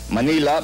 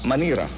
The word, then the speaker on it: Manila: you very well know the Japanese have a difficulty pronouncing their ARS Manila becomes manira and so this Japanese